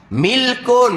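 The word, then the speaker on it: مِلْك: kepunyaan milik milik kepunyaan ejaan dia sama mim lam Kaf tiga huruf baris dia lain makna dia lain nak baca baris macam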